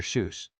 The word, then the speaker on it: Seuss: Seuss, maintained that his pen name was meant to rhyme with voice, pronounced Zoe rather than goose.